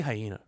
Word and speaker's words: HYAENA: Is it HYAENA? I say hyena.